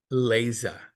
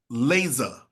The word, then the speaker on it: Leza: So and I want to make sure I pronounce this correct because I messed up her name earlier. And it is Leza. Leza.